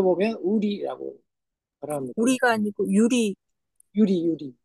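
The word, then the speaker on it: ゆり: 이게 발음이 이제 우리거 우리이이 한이 일본 글자가 발음 시켜 보면 우리라고 합니다 우리가 아니고 유리 유리 유리 예 뭐 일본어 하셨어요 이게 이제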